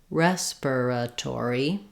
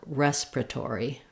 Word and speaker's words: respiratory: so let's try both ways first we have respiratory respiratory secondly we have respiratory respiratory they do have a clear ore on